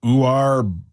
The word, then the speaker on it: Uar: I just don't know how to say his first Uar. How do you spell it? UAR. UAR. UAR. Yeah. Uar. You are a Bernard.